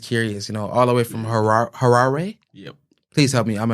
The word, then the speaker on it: Harare: Yeah, so it's Harare. Harare. Yeah, that's Harare. That's how you pronounce it properly. That's how I pronounce it from my Shona accent.